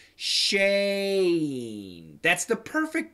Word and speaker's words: Shane: Just like my name, Shane. That's the perfect pronunciation.